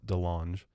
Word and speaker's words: DeLonge: pronounced. I was right. It is DeLonge.